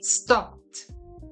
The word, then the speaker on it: stopped: And the other example would be stop. And the pronunciation in past tense would be stopped.